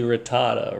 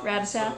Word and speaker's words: Rattata: next Bulbasaur, what's, the next Sentret is basically Rattata, right? So I know I'm not pronouncing it right, am I? Nope. How do you pronounce it? Ratata.